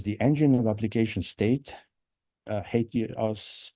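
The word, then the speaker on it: HATEOAS: engine of application State hate you us for sure it's a weird pronunciation it sounds like somebody hates something but I don't know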